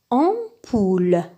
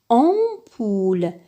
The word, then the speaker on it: ampoule: forme le son en comme dans le mot ampoule ampoule ici le am se prononce 11 parce que après le M il